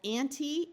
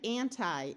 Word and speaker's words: anti: reading not for writing this prefix can be pronounced either with a long e or a long I so you will hear both anti and anti in American English now I want to